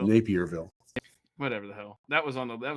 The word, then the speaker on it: Naperville: Is that how you pronounce it? Yeah. Naperville. Oh, Napierville.